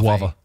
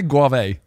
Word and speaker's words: guava: Guava. What the fuck? Yeah. Do I say guave? I think I was wrong. Yes, you don't pronounce it guave.